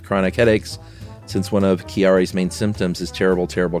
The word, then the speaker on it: Chiari: I have kiari. I think it's c h i a r i. And I bet you it's not chiari. You got to say it like an Italian person.